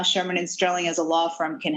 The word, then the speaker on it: Shearman & Sterling: fintech at sherman sterling did i get that pronunciation right donna that's right sherman and sterling sherman and sterling very good so um what